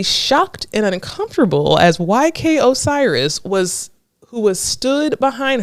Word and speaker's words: Osiris: name y Osiris but it looks like ostrich um but it's Osiris okay so um Osiris